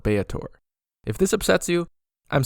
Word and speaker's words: Baator: So I think I'll use a middle ground pronunciation and call it Baator.